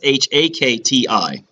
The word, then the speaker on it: Shakti: god of the universe I'm sorry Shakti pronounce it wrong sh a kti Shakti is the concept and